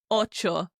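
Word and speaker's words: ocho: Number eight is oo. O c h o oo. If you're a chocolate fan, it sounds a teeny bit like Oreo.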